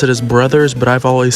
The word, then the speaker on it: Bros.: I say bros, like it's spelled. I know you're technically probably supposed to pronounce it as brothers, but I've always said bros.